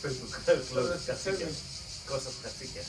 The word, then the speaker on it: Katsikias: So we are going to start in this order, and I'd like to introduce Kostas Katsikias. Did I pronounce it correctly? It's okay, it's Facebook. Close. Katsikias. Kostas Katsikias. Katsikias.